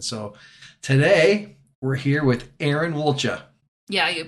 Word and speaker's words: Erin Woltja: profound ways and so today we're here with Aaron walcha yeah you pronounced it correctly oh do other people pronounce